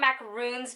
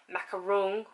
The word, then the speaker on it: macaron: We're gonna make macaron. See, I call them macaroons, but they're technically macaron. Macaron.